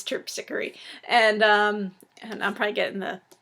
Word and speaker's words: Terpsichore: I thankfully Carol put like a pronunciation thing in here because I read it, I was like, oh, Terpsichore. But no, it's Terpsichore.